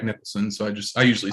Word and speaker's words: Nicholson: No, but just like Jack, you pronounce. Everybody knows Jack Nicholson, so I usually say that.